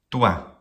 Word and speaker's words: tua: The first syllable does not contain a long vowel, and the first syllable does not end with a consonant, so it is short in duration. And the second syllable, the same.